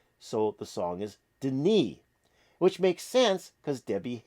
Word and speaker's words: Denis: d n i s dropping the E and the S is silent so the song is Den which makes sense because